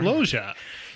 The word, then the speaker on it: Loggia: All right, you're going to have to help me with this next name. Robert Loggia. Yeah, it's spelled L as in look. It's Robert Loggia.